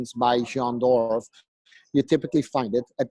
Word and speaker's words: Jean Dorff: it's Jean Dorff. spelled Jean, y'all, but it's pronounced Jean.